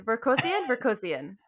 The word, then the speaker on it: Vorkosigan: what exactly do i need to know about work cassian berkosian yes excellent excellent pronunciation you never know which letters you need